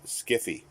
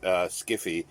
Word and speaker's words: skiffy: susan wood and others began pronouncing the term skiffy uh in 1980s to 90s usage skiffy which sounds friendlier than sci-fi has perhaps for that